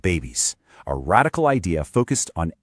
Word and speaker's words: BEBIS: She discovered BEBIS, pronounced babies, a radical idea focused on animal-based foods.